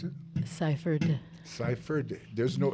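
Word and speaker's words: Sypherd: r d as in david say that says pronounce it ciphered cipher there's no f in there folks no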